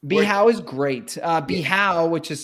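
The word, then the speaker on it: Bijao: beach club yards the house is great uh bihau which is spelled b-i-j-a-o um is tends to get the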